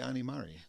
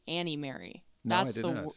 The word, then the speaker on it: Ani Mari: Um I've always been Anie. Um and I just thought Anie Mari like it kind of rhymes.